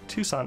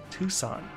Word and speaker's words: Tucson: I understood the first time you typed it out phonetically. Thank you, I appreciate it. Tucson. Understood. I've heard that. That's just not how I would have thought that was spelled, so I never realized they were the same place.